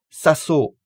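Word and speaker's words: さそう: On utilise bien sûr la forme négative de l'adjectif cette fois, suivi de saso, toujours avec un o long.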